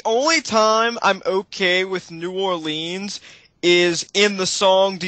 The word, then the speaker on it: New Orleans: It's New Orleans, not New Orleans.